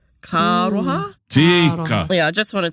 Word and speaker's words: Kāroha: And also, this has only probably clicked to me within recent times, how you pronounce the words and you roll the R's into each other. Kāroha.